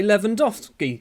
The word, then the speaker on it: Lewandowski: I was saying Lewandowski because there's a W in it.